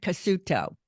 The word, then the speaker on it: Cassuto: York City and his name is Professor Leonard cuto Professor did I pronounce that right you bet okay yay yeah